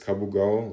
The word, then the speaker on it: Kabugao: But sometimes they have like quite inconsistent spellings, so sometimes you write it with a K and sometimes with a C, but it's pronounced exactly the same.